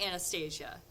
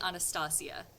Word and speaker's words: Anastasia: I love all their pronunciations of the cause that would be Anastasia, in English pronunciation, but this is set in vaguely Eastern Europe. It would be Anastasia, and I love it that I eat it.